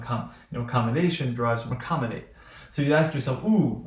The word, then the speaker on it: accommodate: you have learned it you know that a tes on stress on the anti penultimate syllable right so that means it will be this will be the final final penultimate ante so it would be accommodate would receive primary stress right so just say